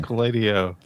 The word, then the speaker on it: SQLite O: I think it's got to be SQLiteo. That's the funnest pronunciation. SQLiteo.